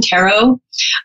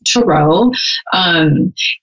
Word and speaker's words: Tarot: is and a lot of people call them Tarot the correct pronunciation is Turo it's first of all you put a little